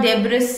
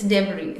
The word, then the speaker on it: debris: or yield quickly yield debris this is not debris it's debris so please to pronounce it well doing the doddle so what